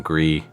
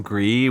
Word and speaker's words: Gris: I was originally assuming it was French because that's how you'd pronounce it in French, but apparently it was a Spanish studio that did this.